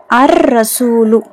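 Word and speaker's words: الرسول: அல் அஹு okay next அர்ரசூலு அர்ரசூலு லாம் உச்சரிக்கப்படல ஏன் ரா வந்து ஷம்சியாவுடைய எழுத்து அர்ரசூலு நெக்ஸ்ட் அல்வஜுஹு அல்வஜஹு வஜனா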